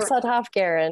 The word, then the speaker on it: Sudhoff-Guerin: Is that how you pronounce? Guerin. It's Sudhoff-Guerin.